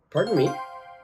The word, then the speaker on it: pardon me: Now, if I use it as a question, it's very important that I raise the intonation of that pronunciation. So it sounds like this. Pardon me.